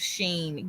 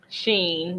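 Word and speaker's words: Shein: she said no I've heard of Sheen girl is spelled s-h-e-i-n Sheen yeah how that spelled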